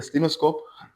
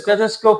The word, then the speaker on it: stethoscope: Right guys, so the doctors told me that this is I might mispronounce the word, but at the stemoscope, right? I'm not sure. Doc, what is it called? It's a stethoscope.